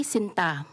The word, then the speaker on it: sinta: jellylike and metallic sweetheart say Sinta the stress is on the second syllable almost like a sereny